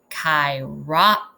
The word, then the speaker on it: Chiroptera: There's a pronunciation guide here. Let's try it. Chiroptera, a Greek name that means hand wing.